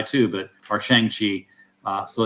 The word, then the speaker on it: Shang-Chi: was reading the comic and just saying it phonetically. Yeah, I was saying Shang-Chi too, or Shang-Chi. So it's Shang-Chi.